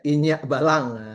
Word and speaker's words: Inyik Balang: Jadi kita malam ini eh, ingin merayakan ya dan mengapresiasi buku Indonesia yang kali ini karya Andre Setiawan berjudul Inyi Balang. Kalau pronunciation Minangnya Inyak Balang.